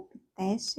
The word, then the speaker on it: Pitesti: Pitesti, ou Piteste, é assim que pronuncia, que nome lindo, Piteste.